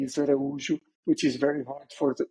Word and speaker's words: Araújo: it's I'm uh if you want to pronounce my last name correctly ISU which is very hard for a lot of people in in the world Aro yeah you almost for